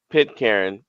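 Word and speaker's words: Pitcairn: Pit Karen Islands. Okay, so I was going to pronounce it right.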